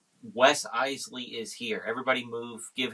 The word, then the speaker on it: Iseli: Iseli. Like the Iseli brothers. Iseli.